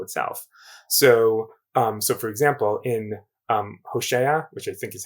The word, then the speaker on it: Hosea: So for example, in Hosea, which I think is how you pronounce it in English, Hosea.